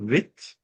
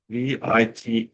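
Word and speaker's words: Vite: a react framework called vit or it's I don't actually know how to pronounce it it's v i t e uh js I think vit uh which is um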